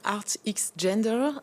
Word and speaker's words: Art X Gender: Art X Gender, je prononce bien? Oui, Art X Gender.